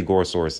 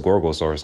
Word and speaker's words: Gorosaurus: How do you say Gorosaurus' name? Gorosaurus. It is Gorosaurus, okay? I thought it was Gorgosaurus.